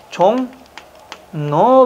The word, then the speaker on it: 종로: 이응과 리을이 만났죠. 그러면 발음은 뭐가 됩니까? 리을이 뭘로 와버리는 거죠? 비음으로 와야 되니까 종노 발음이 되는 겁니다.